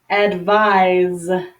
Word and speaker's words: advise: like s advice okay the verb form is with an S but the pronunciation sounds like Z advise advise okay so advise is